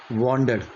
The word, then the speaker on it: wandered: तो इसका जो उच्चारण है, इसको बोलते हैं वॉन्डर्ड।